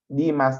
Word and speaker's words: Damas: Demas, they pronounce it.